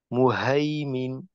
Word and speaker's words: مهيمن: আরেকটা হলো এই যখন এইটা বললেন মুহাইমিন, তো আপনার কিন্তু অনেক সময় গোল হায়ের উচ্চারণ ওই মাথা বাঁকা হায়ের মতো হয়ে যায় অনেকটা। তো গোল হায়ের উচ্চারণটা আর একটু খোলা রাখা, মুহাইমিন, محيمن. মুহাইমিনুন, হা, হি, হু।